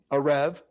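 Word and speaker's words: ערב: You see there, Ayin, Resh, Bet, Areb. Modernly, they pronounce that with a Va, Arev.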